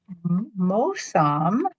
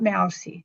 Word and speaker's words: Mosam: So, Mosam is here. Not Mousie.